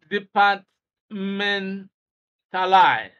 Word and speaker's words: departmentalize: forward question 15 departmentalize departmentalize so option A should be the appropriate stress stress is on men the part men Li B is incorrect